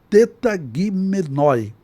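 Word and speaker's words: τεταγμένοι: E como se pronuncia essa palavra transliterado, ou seja, com os sons do nosso alfabeto. Então é tetagimenoi, que seria melhor traduzido por dispostos.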